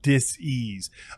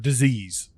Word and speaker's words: dis-ease: You know, people tend to pronounce that word disease. You Mm. know, and it's actually, when you break it down, it is dis-ease, and it's just that.